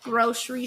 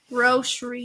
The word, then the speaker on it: grocery: for food grocery store grocery store grocery Grocery not grocery grocery Grocery uh grocery Grocery sh need a sh noise in it what what